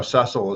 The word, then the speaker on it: Cecil: I just want you say Cecil Rhodes, but I guess the English version is Cecil Rhodes. No, Cecil is how it's pronounced. Well, we've always said Cecil Rhodes. Cecil's American. Cecil's the American version.